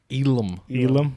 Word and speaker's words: Elam: Elam. There's no R in the last name.